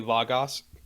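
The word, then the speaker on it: λόγος: And for anyone who knows Greek knows logos, which is how you would pronounce it classically, logos, has a humongous semantic domain, which means it could mean a billion different things.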